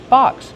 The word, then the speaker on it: box: How do you pronounce box? Box. Use the open A sound like hot and stop. Ba, box.